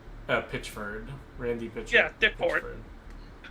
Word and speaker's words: Pitchford: Pitchfork? Pitchford. Randy Pitchford. Yeah, Dick Ford. Oh yeah, let's just purposefully mispronounce his name.